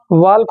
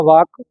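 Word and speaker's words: walk: वाल्क होता है या वाक? वाक होता है, यल साइलेंट, है ना।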